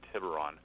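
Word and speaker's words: Tiburon: city and uh you were wondering about the pronunciation of that town that's that's uh tibron TI town is tiberon it's a small sleepy town right North of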